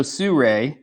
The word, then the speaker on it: Sirui: that are coming out okay so I so Sur which is apparently the correct way to pronounce that company's name at least per somebody